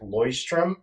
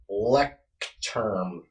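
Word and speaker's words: Leuchtturm: e c h TM it's a German word it's actually spelled it's actually pronounced lyom but it's Le term 1917 the the model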